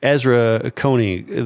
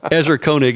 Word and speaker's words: Ezra Koenig: I saw it where Ezra Akoni the guy who actually will come back to how to pronounce my man's name Ezra Koenig is the is the correct way but it Azra Koenig